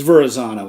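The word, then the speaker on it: Verrazzano: do i say that i think it it's verrazano i think that's how you pronounce it but you know might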